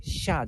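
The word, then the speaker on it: Xia: i a sha Dynasty uh not really z i a but it makes sense in an English uh phonetic tradition it makes sense I think when you pronounce it it's more like a z i Asia but in Chinese pinging it's spelled as a x i a it's the the first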